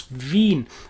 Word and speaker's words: Wien: vienna the capital of australia being of course veen and that brings us also to something which